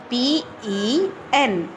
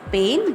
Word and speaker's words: pen: P-E-N. Pen. Most of us pronounce it as pain, but it's not pain, it's pen.